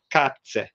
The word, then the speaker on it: Katze: So can you guess what animal is Katze? So Cat. Cat. Yes. So you see, it's spelled with K in German. In English, it's spelled with C, but it's the same sound. So it's K.